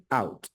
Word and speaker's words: cout: Yo lo pronuncio cout, ¿por qué razón? De repente ustedes ven algún video, alguna cosa y dicen cout. C es del lenguaje C, del lenguaje C++. Y out es de output, de salidas.